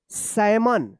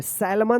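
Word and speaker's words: salmon: यहां पे भी एल साइलेंट है और यहां पे भी एल साइलेंट है। चलिए अब देखिए यहां पे एस ए एल एम ओ एन। क्या पढ़ेंगे? सैमन। क्या पढ़ेंगे? सैमन पढ़ेंगे। सैलमन मत पढ़िएगा।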